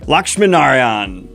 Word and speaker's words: Lakshminarayan: cover revealed for Interstellar Megachef by Lavanya, dyslexia, Lakshminarayan. Kayla, can you help me? You're bilingual. I need you. How do you say this last name? Lakshminarayan.